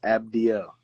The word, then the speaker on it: Abdiel: from Panama the Latino you have people always mispronounce it but yeah abdiel okay cool is there a way I don't